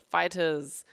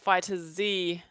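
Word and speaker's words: Dragon Ball FighterZ: by Bandai Namco themselves the fighters pronounced that way not fighter Z not fighters Z fighters so yeah I've pretty adapted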